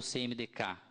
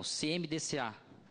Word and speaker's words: CMDCA: ao respectivo CMDCA ou CMDK, como queiram, né? Pela língua portuguesa parece que seria CMDCA, né? Não podemos misturar aí soletrar letras e sílabas.